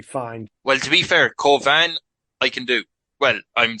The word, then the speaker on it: Cauvin: rice right sure yeah if you're saying in French it's like kovan but Carvin is like the is is fine I a few years